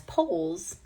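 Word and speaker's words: Pauls: I found out afterwards that his father did pronounce his name as Poles.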